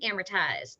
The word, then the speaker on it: amortized: many many years ago just think of hammer time amortized and that way you'll say it properly every time charge accounts now these